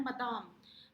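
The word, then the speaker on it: Madame: ये जो MME लिखा है इसको आपने प्रोनाउंस करना है मदाम।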